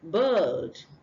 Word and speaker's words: bird: and next one is bird not B you don't say B but but bird if you say bed you're actually pronouncing b e d the bed you sleep on but this is bird Birds flat all right